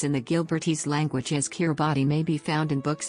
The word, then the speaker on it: Kiribati: Kiribati is the official pronunciation as T in the Gilbertese language makes an S sound.